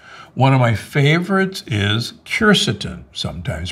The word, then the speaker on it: quercetin: One of my favorites is quercetin, sometimes pronounced quercetin.